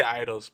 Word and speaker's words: Eidos: I say idols, but I hear people say it different ways.